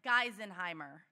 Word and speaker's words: Geisenheimer: You know, honestly, it's a doozy, and nobody gets it right, but it's Geisenheimer. You got it.